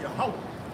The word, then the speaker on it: Yahweh: But it's really Yahweh. Right. Right? Yahweh is how you say it.